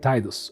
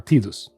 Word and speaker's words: Tidus: So, embark on a journey to uh Sanaran alongside Tidus or Tidus depending on how you want to pronounce it.